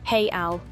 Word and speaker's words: real: currency is the Brazilian real spelled R E A L and pronounced hey Al.